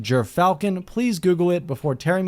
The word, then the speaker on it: Gyrfalcon: this out of the way now it is pronounced jur falcon please google it before tearing me to shreds